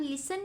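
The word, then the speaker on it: listen: अब लिसन में हम लिसन। टी इसमें हम प्रोनाउंस नहीं कर रहे।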